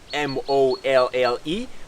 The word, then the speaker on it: MOLLE: Okay, and for those who are not tactical, M-O-L-L-E, pronounced MOLLE, is the acronym for modular lightweight load carrying equipment.